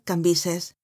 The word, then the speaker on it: Cambis: se pronunciaba Levi y cambies que se pronunciaba cambises aquellas caras antiguas y